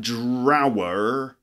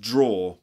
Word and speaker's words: drawer: I know it's spelt it looks like drower but it's actually pronounced draw for example a draw